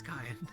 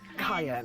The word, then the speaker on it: Cayenne: That's why it's Cayenne. Cayenne. It's like It's like how I remember is like pepper as I've been told.